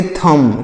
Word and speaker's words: thumb: THUMB, तो इसे क्या पढ़ेंगे, इसे पढ़ेंगे थम। क्या पढ़ेंगे, थम। इसको थंब नहीं पढ़ना, थम पढ़ना है।